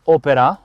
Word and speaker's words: Opera: Abbiamo un rivestimento interno chiamato Opera, ovviamente con l'accento sull'A perché è un'auto francese, pelle in colorazione bordeaux